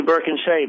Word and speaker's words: Birkinsha: That's actually Birkinsha. That's pretty close. Okay, Birkinsha. It was better than what I pronounced it the other day.